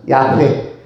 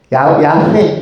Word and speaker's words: 야훼: 야훼. 야훼 내지는 야훼께서. 왜 야훼라고 발음을 합니까?